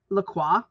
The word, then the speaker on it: Lacroix: It's actually, in the show, it's pronounced LaCroix. So you don't pronounce the O or the I guess, or the X.